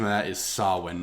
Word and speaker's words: Samhain: the fear of halloween i believe the correct pronunciation of that is sawwin not samhain yeah it's from it's spelled sam and then hayne yes yeah that's how it's spelled by how it's pronounced is sawing yeah champagne is from ghostbuster real ghostbusters well